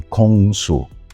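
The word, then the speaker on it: 공수: Sin embargo, las dos combinaciones respectivas de caracteres chinos se pronunciaban de forma diferente en coreano, que serían: “Tang-soo” y “Kong-soo”.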